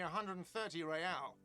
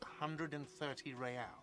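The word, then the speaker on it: réal: You owe me 130 real. Slip away unnoticed. What's real? Oh, excuse me. You owe me 130 real. He pronounces the R with a mock aristocratic accent.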